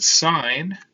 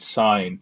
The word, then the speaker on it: sine: these backwards oops and sine of a is equal to opposite over hypotenuse okay now please don't call it cause and sin cosine and sine don't be lazy say the extra extra syllable it's not going to